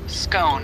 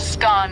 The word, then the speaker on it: scone: topic the pronunciation of scone both scone rhyming with gone and scone rhyming with bone are accepted pronunciations though Regional variations exist what can you tell